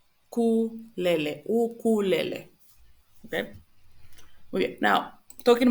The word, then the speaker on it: ukulele: Oasis, oeste, and also we have the case of ukulele, which is in English would be ukulele, something like that. Remember that the U is u, ukulele.